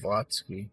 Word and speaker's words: Blavatsky: Blavatsky, I just kept calling it Blavatsky or something. I couldn't pronounce it last time either.